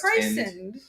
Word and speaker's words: christened: Christine. Christened. That's pronounced christened.